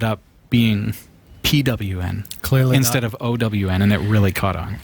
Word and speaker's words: pwn: When you see that own to own is spelled pwn, you'll all be so proud of me for not stumbling on that. Way to go, Sasha. For years, I always just called it pawn. Pawn. Yeah, you can kind of call it whatever you want. You can say pond or whatever, but realistically, I think it's own.